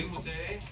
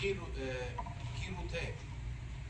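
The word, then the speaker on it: חירות: Chirute, that's the right way. Not right is Kirute. Not he. Saying not he. You're supposed to say Kirute.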